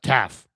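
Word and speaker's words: Taaffe: Do you pronounce that last E? No. Taff.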